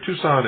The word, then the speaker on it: Tucson: For those of you who haven't been out west here, Tucson is spelled T-U-C-S-O-N. Tucson, Arizona, 85702.